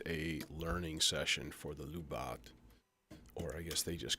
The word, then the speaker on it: Lubadh: to be just a learning session for the lubat or I guess they just call it the Lupa I actually looked it up pure Gaelic how would you pronounce this they're like Lupa like I see what you did there clever